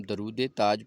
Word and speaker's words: درود تاج: کھاتے تھے۔ اور درود تاج شریف کا جو تلفظ ہے، لوگ اس کو درود تاج پڑھ دیتے ہیں، حالانکہ اگر ہم درود تاج پڑھیں گے تو اس کا مطلب ہوا کہ